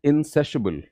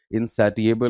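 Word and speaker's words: insatiable: Next word is इंसेसिबल. इंसेसिबल adjective है. Pronunciation पे ध्यान दीजिए. इनसैटिएबल नहीं बोलना है, राइट?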